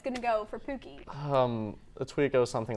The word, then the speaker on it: Pookie: how do you pronounce that? It was made so long ago, but it's Pookie.